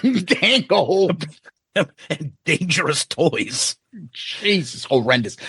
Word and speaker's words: Bang Tango: Is it Bango Tango or Bang Tango? No, you're wrong. I just laugh at you because you say it wrong. It's Bang Tango, but it's funny when you say Bango Tango.